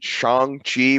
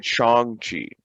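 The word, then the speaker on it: Shang-Chi: know about and then shang chi which i guess i've been mispronouncing all the time yeah but he said it yeah he said chongchi so i had to correct myself so then speaking of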